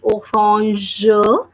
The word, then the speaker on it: orange: Then we have AN, and I have told you the sound of AN. It's a nasal sound, and we pronounce that as O. So that will be orange because the word ends with GE and the sound of G as we have done. It is pronounced as je. So the word will be like orange.